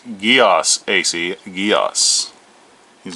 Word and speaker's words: Geass: it live actions encode uh code geass it's pronounced geos ac geass he's not watching this then we